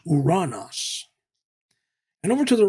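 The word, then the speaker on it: οὐρανός: First, we have the Greek word pronounced uranos.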